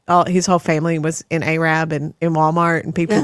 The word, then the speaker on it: Arab: He married a girl from Arab, Alabama, and Arab is spelled Arab, but it is pronounced Arab, not Arab.